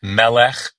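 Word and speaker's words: מלך: But you always pronounce the first, you always put the accent on the first syllable, not the second. So like melech or eved, you remember eved for slave?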